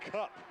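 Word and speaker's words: Kopf: only hope Logan cup spelled k o PF but pronounced cup tricky name got a chance here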